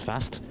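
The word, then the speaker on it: Fasth: order Merit that a little careless name is pronounced fast though it's spelled FAS th thank you STI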